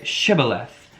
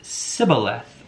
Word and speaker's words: Shibboleth: If he said no, then they would say to him, "Please say Shibboleth." And he would say Sibboleth, for he was unable to pronounce it right.